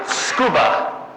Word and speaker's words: Tsukuba: Now, at a certain larger scale, this is a university building at a place called Tsukuba, spelled like scuba but with a T.